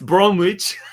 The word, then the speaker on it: Bromwich: make sense just dawn just don't pronounce the W try it again it's Bromwich conversation on have we